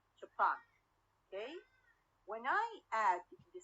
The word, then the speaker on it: Japan: word japan okay japan the primary series is where on the last syllable japan okay when i add